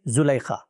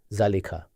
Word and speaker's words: Zulaykha: We commonly say Zulaykha. Yes. Whereas the original pronunciation is zalika. Among us, however, people generally say Zulaykha.